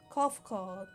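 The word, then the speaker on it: Cahciua: address my individual person I believe it would be pronounced cough called yes cofcod of the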